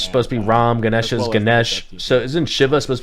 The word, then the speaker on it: Ganesha: so the hindu deities they don't pronounce the a at the end of their various art